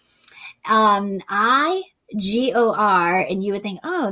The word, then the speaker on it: Igor: and grow this pumpkin this year it's called igor um i g-o-r and you would think oh that's igor nope